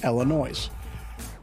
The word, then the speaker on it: Illinois: after an Indian tribe the members of said tribe pronounced the name of their tribe with the S Illinois's therefore technically speaking if